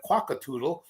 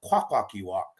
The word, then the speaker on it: Kwakwaka'wakw: They're calling me a quackatoodle. I'm a quackwalkie-walk. That's my tribe name, not no quackatoodle or quagyol.